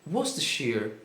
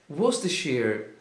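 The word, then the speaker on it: Worcestershire: se escreve worest, mas a pronúncia é muito mais simples do que a escrita. Você vai dizer was sheer was sheer e numa frase de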